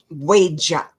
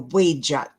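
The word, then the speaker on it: Wedjat: The one pictured on the left is called the Wejat. The Wejat. In most African languages, E is pronounced A.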